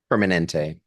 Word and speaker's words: Permanente: How do you pronounce it? Permanente? Permanente.